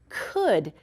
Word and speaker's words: could: Today, we're going to focus on this word, could. It's tricky because we don't hear the L in it, and so sometimes that can be a trick.